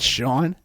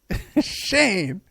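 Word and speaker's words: Sein: Want to give a shout out to Shane, not Sean. Shane.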